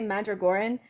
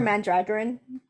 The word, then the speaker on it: Mandragoran: oh that's very good mandragarin is uh what i've heard i have heard people say mandragoran i prefer mandragarin just because it sounds a little bit more like dragon but that's that's just